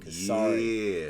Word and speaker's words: Kesari: Kesari. I think that's how you say it. Very good. Kesari.